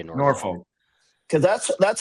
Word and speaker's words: Norfolk: We should be pronouncing it the way that Virginia pronounces it because that's the proper way to pronounce it.